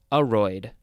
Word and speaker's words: aroid: But no, it looks like it's more pronounced aroid. The first syllable is emphasized.